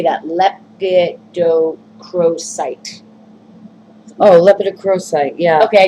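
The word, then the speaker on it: lepidocrocite: Lepidocrosite.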